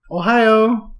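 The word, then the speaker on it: おはよう: Ohio. That's how you say hello. So try it. Ohio. Like the state. Like Ohio with accent on the O. Like Shimoho. Accent on the yo.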